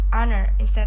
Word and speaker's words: honor: first similar to honor Which is pronounced as owner of Honor Hai Because it is